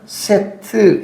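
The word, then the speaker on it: שֵׁת: 의미를 여러분들에게 말씀을 드릴게요 셋이라고 하는이 히브리어 단하는 세트 이렇게 됩니다 세트 히브리어로 발음하면 세트이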